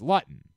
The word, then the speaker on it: Luton: town looten Town L Jake yeah Jake Lutton is the quarterback and then his brother Jordan played it's Lutton not well I'm saying well